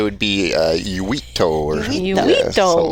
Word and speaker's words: Uitto: I say Uitto, but I think Uitto? yeah, it's Finnish, so it would be Uitto or Uitto.